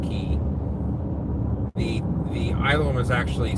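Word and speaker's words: Cay: it looks like K but if it's actually pronounced key the the island was actually split in half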